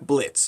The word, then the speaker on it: Blitz: Over at Helluva, we have Blitz. The O is silent.